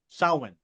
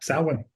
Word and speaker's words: Samhain: Sowan or sat Oh, yeah. Sowan.